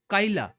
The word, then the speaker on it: কাইলা: আচ্ছা, কালিয়া, সরি কালিয়া না, কাইলা।